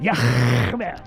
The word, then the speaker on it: Yah: His name is Yah. That's how you pronounce it. Yah.